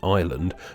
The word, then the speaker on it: island: silent R in iron, a silent S in island, a silent T in